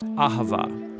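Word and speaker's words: אהבה: It's pronounced Ahavah.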